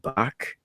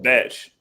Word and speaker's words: Bach: Like I it's King Bach. I was saying it wrong. King Bach. King Bach. I don't give a fuck. I think you call him Batch.